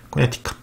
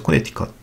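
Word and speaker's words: Connecticut: 인구는 350만 명 정도 되고, 영어로는 코네티컷이라고 쓰는데 T 앞에 C가 무음이 된다. 코네티컷이라고 읽는 게 아니라 그래서 코네티컷이라고 읽어야 된다는 거죠.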